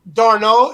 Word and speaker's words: Darnold: And talk about Sam Darnold. Is that how you pronounce it, Brad?